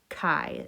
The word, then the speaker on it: chi: called a chi square chi is how you say that and the greek letter